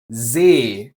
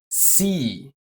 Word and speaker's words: See: So, this word here is See not sea.